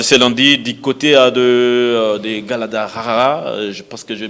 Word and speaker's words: Guadalajara: Je rappelle, les Congolais arrivent déjà à 21h de Kinshasa de ce lundi du côté de Guadalajara. Je pense que je vais bien prononcer. C'est Guadalajara.